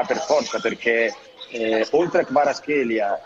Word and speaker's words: Kvaratskhelia: Che Ciro, scusa, com'era la pronuncia di Kvaratskhelia oggi? Kvaratskhelia.